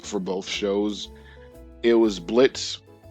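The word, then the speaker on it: Blitzø: But um when the teaser trailer dropped for both shows, it was Blitz, the O is silent, lol.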